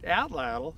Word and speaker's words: atlatl: Today we're going to talk about a primitive weapon known as the Atlatl. You can also pronounce it Atlatl, either is perfectly fine.